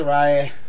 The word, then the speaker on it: Saraya: Saria? Is that a name? I can't pronounce it, that's why I'm going, is it Saria, is it this? I can't pronounce it. Saraya.